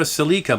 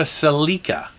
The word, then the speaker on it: Celica: In Canada, it's a Toyota Celica. In the United States, it's a Toyota Celica. But boy, if you call it a Celica, the American, they'll just pound on the keyboard and let you have it.